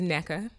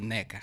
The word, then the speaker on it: Nneka: And they pronounce it as Nneka. So I answer to all of the above. I'm gonna go with Nneka.